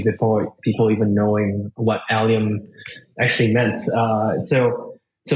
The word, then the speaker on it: Allium: people even knowing what alium actually meant uh so so most people think alium is a metal like aluminum right so that's why a lot of people pronounce this Alum and not alium uh there also another